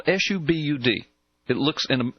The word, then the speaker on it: Subud: And it's spelled s u b- u d. It looks in in English it would look like it would be subbud but it's pronounced subud.